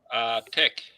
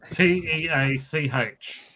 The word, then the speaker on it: Teach: Tech. Well, that's not what the spelling tells me, mate. Teach. Is that how you pronounce it? Is it, Brad? Yeah, I believe so.